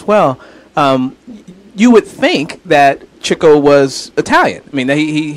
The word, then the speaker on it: Chico: of trickster and then Chico who is sometimes pronounced Chico but it turns out as Chico because he likes chasing chicks but anyway he he